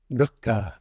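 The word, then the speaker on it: दुःख: Maybe we could pronounce the Sanskrit one together. Do you know the word for suffering in Sanskrit? Duka.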